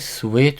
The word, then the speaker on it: suite: He was to have a great suite with him. sweet, 달다라는 뜻의 sweet하고 발음이 똑같습니다.